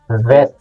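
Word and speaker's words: ב: So, pag wala yung tuldok, ano ulit? Pronounce natin? Vet. Parang veterinary.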